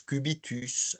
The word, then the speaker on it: cubitus: Et ne pas oublier que dans certains vocabulaires techniques, quand on a un S, on le prononce, on dit euh unérus, cubitus, radius.